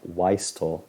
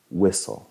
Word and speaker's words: whistle: Esta palabra no se pronuncia Weistel o Weistle o Weistly, no. Va a pronunciarse whistle, que significa silbatear, o